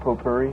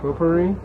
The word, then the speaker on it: potpourri: no smoking pop Pope Yuri how do you pronounce that potpourri potpourri yeah I'd like to smoke potpourri I can